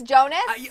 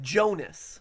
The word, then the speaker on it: Jonas: hi Jonas its Jonas are you sure it's Jonah you're not pronouncing it right it's Jonas Joe Jonas Jonas Jonas